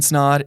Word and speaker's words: Snod: time my name is snod it rhymes with odd and we'll see you